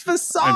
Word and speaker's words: facade: I did it I said it right it's facade I'm so proud of you that was a